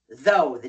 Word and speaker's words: thought: Now the th is unvoiced and the ou gh is a not a o.